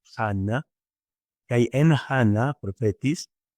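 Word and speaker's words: Ἅννα: Continúa el versículo 36, que hay en Ana, profetis, Ana, que propiamente si lo vamos a pronunciar como está en griego es Hanna, que hay en Hanna, profetis, Sigater Panuel, Equiles Acer.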